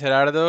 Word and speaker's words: Gerardo: So, yeah, as you said, my name is Herardo.